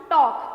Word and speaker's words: talk: जब हम L silent होगा, sorry. T-A-L के talk, we only pronounce talk.